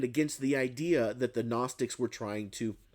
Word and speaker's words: Gnostics: See, there was this other group called the Gnostics with a G. The G is silent. The Gnostics, the Gnostics.